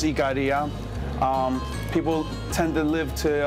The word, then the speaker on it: Ikaria: We're from a little island, a longevity island called pronounced Ikaria.